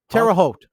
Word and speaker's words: Terre Haute: I'm not sure how to pronounce this. Terre Haute? Just Terre Haute.